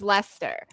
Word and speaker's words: Leicester: a Leicester and Lester it's l-e-i-c-e-s-t-e-r like it's spelled the same as you know England's Lester um it was nothing like